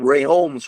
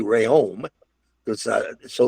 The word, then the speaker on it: Rheaume: They started having more and more restaurants, and they changed it to it was called Rheaume's restaurant, but nobody in Detroit could say Rheaume, so they said Rheaume's, and that's where the Rheaume came in.